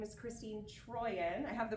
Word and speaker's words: Trooien: My name is Christine Troyan. I have the pronunciation right there.